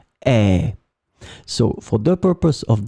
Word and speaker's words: et: It will be pronounced e, and it means and.